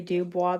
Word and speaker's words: Dubois: I say Dubois, the French pronunciation.